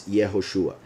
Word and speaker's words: Yehoshua: origin, and he will say that the true pronunciation is Yehoshua.